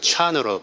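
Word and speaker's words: Chan: 선나 선이 돼서 어 중국에서 찬으로 발음하고 일본에서 젠으로 발음한다 선 찬 젠 이것은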